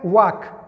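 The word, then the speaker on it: walk: او یا لکه واک، ګوره والک به نه وایه، دا ال چې دی دا سایلنټ وال نه ویل کیږي.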